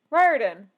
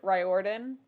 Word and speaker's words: Riordan: name was pronounced different Riordan yeah yeah that I started getting better because I used to pronounce it Riordan and not Riordan it's Riordan yeah that that is